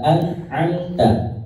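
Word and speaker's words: أنعمت: Kalau yang ain, ya, an, ya, jadi lebih ke tenggorokan. An'amta, an'amta. Kemudian, ya, an dibacanya jelas, tidak dengung.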